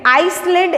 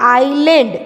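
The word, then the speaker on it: island: फॉर एड जी आयरलैंड यहां पर हमें आइसलैंड ऐसा डांस नहीं करना है ऐसा नहीं करना है क्योंकि यहां पर ऐसे साइलेंट तो हम क्या करेंगे इस आइलैंड only if Louis player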